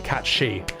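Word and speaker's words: Cait Sìth: The problem with cats Sith is because the word catsith or cat she as it's pronounced is the Scottish indigenous language for fairy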